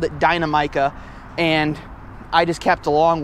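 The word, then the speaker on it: Dinamica: Yes, I said it correctly, Dynamica.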